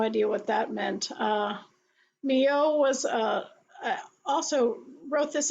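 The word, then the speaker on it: Milhaud: a piece by a composer whose name is pronounced Mio it's a little different than it looks uh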